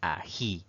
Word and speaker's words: ají: Veamos nuestra primera palabra y se trata de ají. Si separamos en sílabas, pues notamos que tiene 2 sílabas. Pero la mayor fuerza de voz, la mayor intensidad al pronunciar esta palabra recae en la última sílaba.